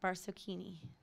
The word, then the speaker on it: Barsocchini: so please welcome to the stage um mark barcocchini did i say that right yeah all right